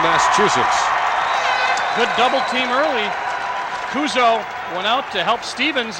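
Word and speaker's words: Cuozzo: Chris Kuzo wears number 27, spells his name C-U-O-Z-Z-O. Does not pronounce it like the old Minnesota Viking quarterback Gary Quazzo, Baltimore Colt quarterback.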